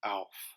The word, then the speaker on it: Aelf: ash be pronounced well it conventionally would be pronounced as a short a now there are three different types of or ways to pronounce an a as long as an able great or late short as an act cat or bat or soft as in father long taught and the soft is the soft a is how an ash would be pronounced so this would be like a very soft Alf but clearly there's reasons